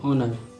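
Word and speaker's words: honour: Silent H है, ये आपका HONO और हॉनर नहीं पढ़ा जाएगा, ऑनर, आवर, ईयर, ऑनर।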